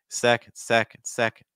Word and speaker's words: second: Do you hear that the end is so weak, right? It's just second. It's just a note on that. And that's going to be pretty much true, you know, for any multi-syllable word where the stress is on the first syllable. Those other syllables are just going to get so much weaker.